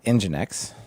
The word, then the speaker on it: Nginx: the other options are Nginx, right?